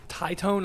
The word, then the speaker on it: Titone: Is it Tyone? Titone, I believe, is how it's pronounced.